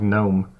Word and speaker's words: GNOME: After you watch the videos, you also notice my pronunciation of what looks like GNOME. The GNOME GNOME project, this the sounding of it for pronunciation as described in their help document is the GNN, the same thing as the GNU project, which is the project